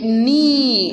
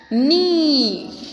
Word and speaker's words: knee: K is silent. So we get knee. How we have to pronounce it? We have to pronounce it as knee.